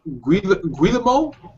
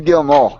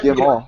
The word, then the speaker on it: Guillemot: On February 11th, Guillermo? Yves Guillemot. Oh, you know what? Guillemot.